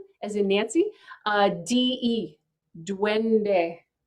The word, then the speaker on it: duende: and that word in flamenco is duende so it's spelled d-u-e-n as in nancy uh d-e duende duende and it it's basically flamenco for you know